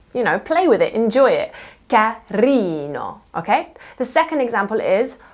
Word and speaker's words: carino: So, in Italian, the vast majority of words are stressed on the second to last syllable, okay? This is also part of the rhythm and musicality of Italian. For example, carino, carino, kind. Can you hear how I'm leaning on that second to last E sound?